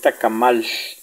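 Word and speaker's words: tak'amal: weish, tacamal, chuchitos, tacamal, la L final se pronuncia sh. No se pronuncia como tacamal, no, sino que es tacamal.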